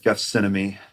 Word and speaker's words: Gethsemane: In this, this cross, when you went to the Holy Land, made from the wood from the Garden of Gethsemane.